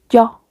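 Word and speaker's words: ㅕ: Como vimos, esta es abierta la boquita, como les expliqué en la vocal. O. Aquí es yo. Y aquí vamos a hacer lo mismo, como una O en español.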